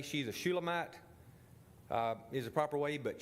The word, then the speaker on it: Shulamite: I believe the proper way to say she's a Shulamite is the proper way, but she already has somebody.